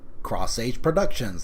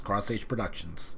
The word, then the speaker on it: Cross H Productions: This is Cross H Productions. That's how it's pronounced. The little H is a cross. Cross H Productions.